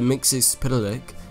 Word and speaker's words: Mxyzptlk: Mxyzptlk, and that's how you say it, because years ago, when Mr. Mxyzptlk was actually around, I practiced for the longest